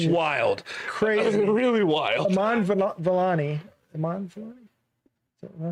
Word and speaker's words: Vellani: Vellani, Did I say her name right?